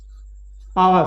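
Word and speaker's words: hour: है तो फॉर टू आवर है कि यह वास नहीं होगा तो आइच में वह साइलेंट है इसको हम प्रणव नहीं कर सकते इसका प्रनंसीएशन आफ थिस वर्ल्ड में नहीं होता इस्कॉन और कहते हैं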